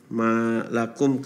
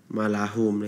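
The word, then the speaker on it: لكم: Nah, seperti pada kalimat malakum kaifatahkumun. Nah, tadi itu ada beberapa kali dibacanya malahum. Nah, itu tertukar oleh Rere seperti itu.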